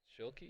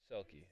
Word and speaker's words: Selke: And I think that'll be on Shilke. Is that how you say it? Selke. Selke.